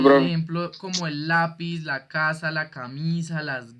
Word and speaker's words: lápiz: Entonces, por ejemplo, acá tenemos la palabra lápiz, ¿cierto? Lápiz tiene 2 sílabas, lápiz, y tiene la tilde en la A, en la penúltima sílaba.